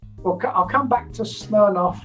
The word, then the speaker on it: Smirnoff: i'll come back to smirnoff or schnellnoff it's pronounced in russian a little bit later